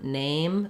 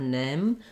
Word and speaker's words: name: closed if a but in a word like changed or name sometimes I I'll hear people say change or Nim they'll just do this first vowel instead of the diphthong so that's one thing